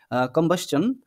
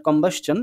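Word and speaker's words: combustion: করার জন্য produce through কম্বাশন অফ কোল কম্বা এটার উচ্চারণে একটু সমস্যা আছে অনেকে বলতে পারে কম্বিশন বা কম্বিশন এরকম বাট কম্বাসন এটা হচ্ছে মেইন আমাদের যে প্রোনাউন্সিয়েশন এটা সেটা হ্যাঁ সো এখানে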